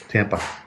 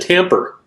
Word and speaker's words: Tampa: You said Tamper here a second ago. You give me a hard time about my... Yeah, you pronounced your R's, but you add R's where they don't belong.